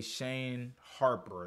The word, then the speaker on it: Shane Harper: But even the son of Vic Flynn, aka Shane Harper, that's how you say his name, I was even interested with his character.